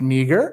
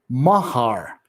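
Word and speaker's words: Meagher: welterweight champion and jeff last name is not pronounced meager it is pronounced mahar mahar m-u-h-h-a-r mahar and why is it spelled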